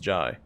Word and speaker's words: Jae: jart ji hyari he want to say Jay but it's pronounced ji there are no chance